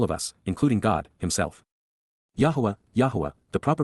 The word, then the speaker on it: Yahweh: applies to all of us including God himself Yahweh Yahweh the proper pronunciation of the name of eloah God as